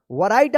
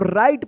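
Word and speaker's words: write: वैरायटी आप पढ़ते होंगे ना गलत ये इसको राइट पढ़ेंगे।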